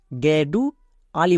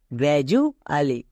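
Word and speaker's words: gradually: গ্রাজু আলি একে কিন্তু অনেকে ভুল করে গেডু আলি বলে কিন্তু এটা সম্পূর্ণ ভুল এর উচ্চারণ হবে গ্রাজু আলি যেমন জি আর এ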